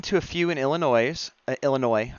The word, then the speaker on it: Illinois: a few in Illinois Illinois I should say the S is silent one in Florida and